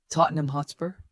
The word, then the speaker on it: Tottenham Hotspur: Tottenham Hotspur. Tottenham Hotspur. Focus on reducing the ham to NUM and softening spur.